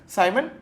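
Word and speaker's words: siemens: उसका यूनिट क्या है साइमन मीटर इवर्स या सीमन metre इवर्स यू can pronounce it इन एनी way that you want ठीक है तो अगले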